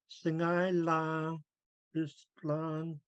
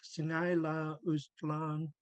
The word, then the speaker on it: Singai La Ustlang: Singai La Ustlang in Masset, they wouldn't really pronounce the underlined G. It would sound more like Singai La Ustlang.